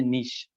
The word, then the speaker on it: niche: हमारे पास एक वर्ड है, बड़ा कॉमन है, नीश के नाम से हम जो है वो इसे प्रोनाउंस करते हैं नीश, N-I-C-H-E नीश।